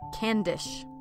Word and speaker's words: Cavendish: she called herself okay four hundred years ago we might have pronounced her name can dish instead of Cavendish ah but nowadays everybody